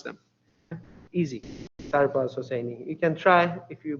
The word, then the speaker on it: Sarbaz Hosseini: It is Sarbaz and Hosseini, and all single, basically letter you pronounce them. Easy, Sarbaz Hosseini.